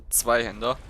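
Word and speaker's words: Zweihänder: Or how it's properly pronounced, the Zweihander.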